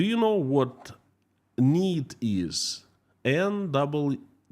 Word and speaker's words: NEET: N-E-E-T, Neet, pronounced Neet.